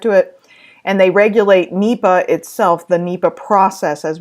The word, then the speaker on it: NEPA: they could regulate their own basically so under NEPA which is how it's pronounced there was a prescription for something called